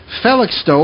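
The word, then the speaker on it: Felixstowe: and lives on the North Sea coast in phallic stow am i pronouncing that correctly yes you all well look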